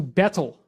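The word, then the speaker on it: baetyl: renamed from omphalos to bettle and it's a little funny because the AE is kind of pronounced E so it's more like beetle now interestingly enough this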